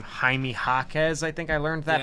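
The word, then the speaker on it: Jaime Jaquez: now I know how to say his name haime hakz I think I learned that on the Pod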